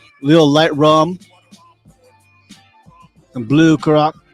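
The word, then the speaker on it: Curaçao: Little light rum, some blue caraco. How you say it? Caraco? Caracal. Curacao.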